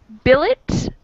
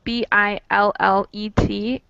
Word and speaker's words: billet: So, in ballet, the T is silent, and in billet, it is not.